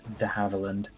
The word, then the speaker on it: de Havilland: and uh poke hero is correct it is pronounced the howeverland yeah it's so so disappointing i agree but